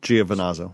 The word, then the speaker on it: Giovinazzo: Giovinazzo.